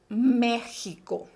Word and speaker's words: México: en la lista vale aquí tenemos la palabra méxico que para los que han prestado atención en